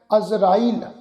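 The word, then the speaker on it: ਅਜ਼ਰਾਈਲ: अजराइल जज्जे दे पैर विच बिंदी लगा के पाठ उच्चारण करना है।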